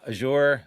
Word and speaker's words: Azure: some of that is the night before uh azour I never know how to pronounce that thing is azure Azure what however you want to say it